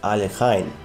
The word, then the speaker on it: Alekhine: word about the name the russian election is pronounced alekhine with a common variant aluchin himself did not